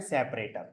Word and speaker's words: sep: SEP ही लिखना है, लेकिन इसका जो प्रोनाउंसिएशन है वो आपको करना है सेपरेटर।